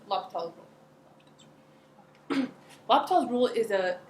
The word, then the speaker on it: L'Hospital: me so today and the pronunciation looks like hospitals but the pronunciation at least for most message inside here is locked all locked all rule is